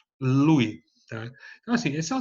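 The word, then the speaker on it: Luys: Se escreve núcleo subtalâmico de Lewis, L-U-Y-S, não é? Mas se fala núcleo subtalâmico de Lewy, tá?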